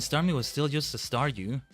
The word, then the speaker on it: Staryu: was still just a Staryu, I could never pronounce his name right. It always ended up sounding like saw you.